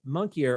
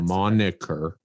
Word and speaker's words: moniker: kind of fit the monkier of maybe that's the wrong word to use moniker monkey monkeyer monkey like the name of yeah that's a moniker moniker not monkey moniker m-o-n i-k-e-r okay right